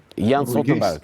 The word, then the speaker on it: Jens Stoltenberg: Então, o secretário-geral Jens Stoltenberg, é assim que se pronuncia? Jens Stoltenberg.